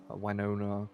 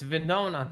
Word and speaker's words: Winona: It's Vanona, not wine. Van No, it's it's Winona. Is it? It's Winona. Yeah, it's it's Winona. Sounds like Yes. wine and not like a win.